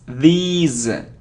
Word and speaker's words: these: etc etc not etc now it isn't this now it's these it's long sound and the sound is Z these days okay so